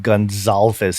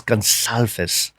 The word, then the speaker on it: Gonsalves: I take exception with you pronouncing his name Gonsalves. It's Gonsalves. Gonsalves.